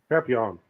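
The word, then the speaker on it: Papillion: Papillon.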